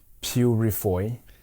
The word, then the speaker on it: Peurifoy: reading well pronouncing names your name is spelled really really interesting so it's r e n e Au U and the last name is p e u r i f o y so I'm going to try to pronounce it Renault Purifoy that's that's very good okay well I'll just